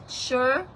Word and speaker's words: Shur: Somebody correct me if I am mispronouncing this. Shur.